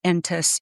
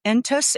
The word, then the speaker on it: Entous: His name is Adam Entis and he has written a incredible article that came out on what was the date?